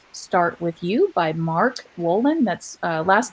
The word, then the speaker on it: Wolynn: It didn't start with you, and that is by Mark Wolin.